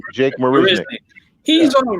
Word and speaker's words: Marisnick: How do you pronounce his name? Miss Marisnick? Marisnick. Jake Marisnick.